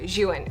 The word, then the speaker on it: Zhiyun: So today's video is sponsored by Zhiyun, and we've been saying this name wrong for 3 years.